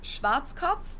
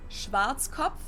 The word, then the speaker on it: Schwarzkopf: In German, we pronounce it Schwarzkopf, which literally means black head. Schwarzkopf.